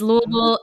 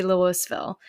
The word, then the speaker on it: Louisville: multitudes of things because Louisville is pronounced so many different ways and it's amazing except for when people say Louisville right you could go to Louisville and have a gooey thrill right or you could